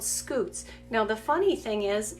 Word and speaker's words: scutes: But those are scutes, and they help them to scoot along the ground, but the word is spelled different. It's S-C-U-T-E.